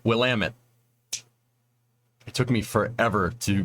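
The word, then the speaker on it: Willamette: Barracks I'm going to get I'm going to pronounce the name right will Amit it took me forever to not pronounce that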